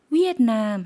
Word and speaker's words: เวียดนาม: 베트남 같은 경우에 V로 발음을 하는데 태국 분들은 V를 워웬 W 발음으로 대신 받기 때문에 베트남 이렇게 안 하고 위에트남 했다는 점 구분해 주시면 좋을 것 같습니다.